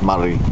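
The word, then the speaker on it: Māori: they're really proud of is Maori culture, or Maori culture, depending on how you pronounce it really.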